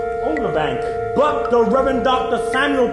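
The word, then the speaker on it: Ota Benga: When asked how to pronounce his name, it sounded like he said Otabank. But the Reverend Dr. Samuel P. Verner says it's pronounced Otabenga.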